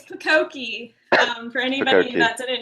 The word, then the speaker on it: Pakoki: everybody, it's Pakoki. For anybody Fukoki. that didn't know how to pronounce it, it's pumpkin.